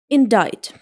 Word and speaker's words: indict: It should be pronounced like indict indict.